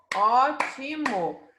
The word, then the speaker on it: ótimo: Nós falamos ótimo. Então, a sílaba tônica é a antepenúltima sílaba.